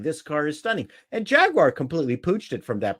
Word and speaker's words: Jaguar: get you do not get a Jaguar the British pronunciation Jaguar they make me say it